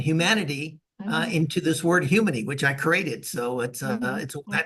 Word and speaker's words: Humony: Humany? Like, why is it called Humany? Well, humany is thank you for the pronunciation. That's correct.